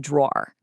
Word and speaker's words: drawer: Wow, you're a really good drawer. Now, you're obviously not complimenting a piece of furniture here, right? That two-cllable pronunciation makes the meaning totally clear.